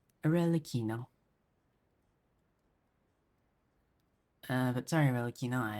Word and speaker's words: Aino: as the moon sorry Reino oh yeah I also learned how to how her name is actually pronounced aino uh but sorry Reino